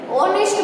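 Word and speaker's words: honest: एन ऑनेस्ट मैन, यहाँ पे हम एच है तो ऑनेस्ट नहीं बोलते हैं, इसको एच है वो साइलेंट है, ऑनेस्ट बोलते हैं।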